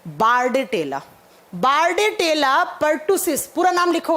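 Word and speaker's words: Bordetella: तो बचा क्या आपके पास ऑप्शन में, बार्डेटेला। बार्डेटेला पर्टुसिस, पूरा नाम लिखो आप, बोर्डेटेला, प्रोनाउंस इसको बार्डेटेला करा जाता है।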